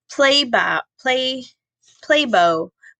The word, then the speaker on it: play bow: Play bow, body position with elbows down and rear up, signaling an invitation to have fun. That might be play bow, like you're bowing, right? Play bow.